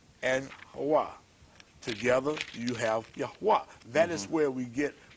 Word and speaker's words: Yahweh: So when we have the Yod, the He, the Wah, and the He, adding the vowels, A's, 2 A's, we say Yahweh, and that is masculine and that is feminine.